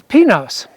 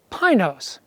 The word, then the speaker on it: Pinos: The Spanish word for pines is Pinos. However, the locals call the mountain we're headed for Pinos.